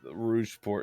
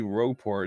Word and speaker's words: Rogueport: no it's just uh lot people um say Rouge port instead of rogueport I'm like it's obviously rogueport it's full of Rogues that's the point it's also spelled like